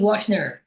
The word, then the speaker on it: Washner: Washner? Is that right? My pronunciation is right? Yes, my name is Washner.